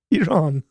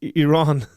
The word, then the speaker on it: Iran: Like, you don't have to pronounce the I. Like, please. Iran. What? Why is that so difficult? Someone please out there explain this to me. Like, it's Iraq. It's Iran.